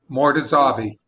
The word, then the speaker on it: Mortazavi: how do you spell it how do you spell it frank tell him how to spell his name amir amir mortazavi m-o-r-t-a-z-a-v-i more to zavi okay okay i just put it in the